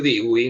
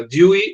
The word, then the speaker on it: Dewey: Dewey, que en Argentina le suelen decir Dewey, no sé por qué está mal pronunciado, sería Dewey la pronunciación.